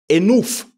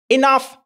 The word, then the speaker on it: enough: cas vous connaissez déjà ce mot mais la prononciation ne sera pas enouf par exemple non on dira enough is enough trop c'est trop ah donc le o u g h c'est ah Exactly.